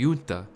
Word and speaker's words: junta: right Junta comprised of you never pronounce the J that's the standard I was operating on right right one of